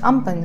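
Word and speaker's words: Amphan: Ampan is written A-M-P-H-A-N but is pronounced Ampan, just like cyclone Phoni was written F-A-N-I but is pronounced Phoni.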